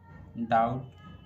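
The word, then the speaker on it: doubt: जब टी से पहले बी आए तो बी साइलेंट रहता है। यदि टी से पहले बी आएगा तो बी साइलेंट रहेगा। जैसे डाउट डैड शटल इन सभी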